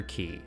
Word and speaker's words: Cay: of this place was treasure key or K it depends on how you pronounce it they were also equipped